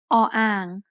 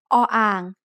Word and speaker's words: อ: This is the letter O-ang, which we introduced briefly in lesson 6. The word ang means basin. O-ang is a middle-class consonant, but it has no sound as the initial consonant of a syllable.